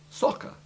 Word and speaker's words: soccer: The word soccer, by the way, was one of the exceptions we had in mind when we said that double C followed by E or I almost always has the soft double C sound.